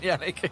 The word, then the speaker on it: Yannick: I mean, he says it's Yannick, but there's no way that YNCK is pronounced Yannick. To be fair, I mean, I know Sadakist obviously mentioned Yanko yesterday, and I remember